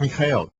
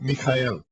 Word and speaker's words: Mijael: palabra hebrea para salvación mi nombre en hebreo es mijael significa qui es como él es Mel en ruso Miguel en español y Michael en inglés hay diferentes pronunciaciones dependiendo de los sonidos comunes de la lengua nativa pero el nombre sigue siendo mijael cuando hablo de shaul